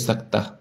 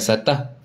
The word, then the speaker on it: saktah: So kalau huruf sin ni tanda sin ni kita panggil dia saktah kan bukan satah atau bukan sat kalau